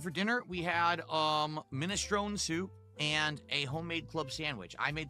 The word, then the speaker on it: minestrone: No, it's actually minestrone, but a lot of people have started pronouncing it minestroni.